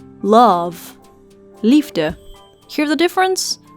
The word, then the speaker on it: lachen: mentioning first we have ch which is pronounced as a g sound like in the word l or if you're from Amsterdam L we also have SC